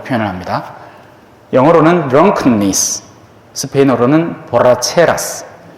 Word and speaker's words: borracheras: 스페인어의 이 발음하는 게 한국 사람한테는 정말 힘든 단어입니다. R을 2번 쓰면 R가 되거든요. 이 단어를 발음을 한국 사람들이 잘 못해. 우리는 리을 하나밖에 없잖아요. 그죠? 근데 스페인어에는 엘레가 있고 에레가 있고 에레가 있습니다.